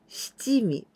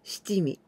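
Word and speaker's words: 七味: written like na nami but this kanji we pronounce stimi so that the pronunciation way the correct way is stimi okay i like this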